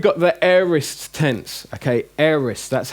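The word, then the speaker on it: aorist: now now we've got the eris tense ok eres that's how it's pronounced not a orest air is tense now this it basically means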